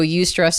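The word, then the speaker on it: eustress: So ust stress is spelled e u s t r e s ss and ust stress is considered like you can almost think of it as like positive stress.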